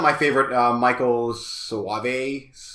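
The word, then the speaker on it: Soavi: It's not my favorite Michael Soave. I think that's how you pronounce his last name. I always call it Sovi. But... Sovi, there we go.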